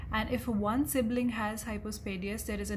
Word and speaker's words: hypospadias: Now remember, it is called hypospadias and not hypospadiasis, as it is commonly mispronounced.